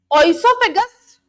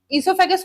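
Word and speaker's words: oesophagus: तो ओसोफेगस इससोफेगस कुछ भी प्रोनाउंस कर लीजिए।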